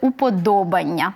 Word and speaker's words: уподобання: і ми ставимо вподобайку але наголос буде уподобання не на Аню так а на на третій склад Да і в ому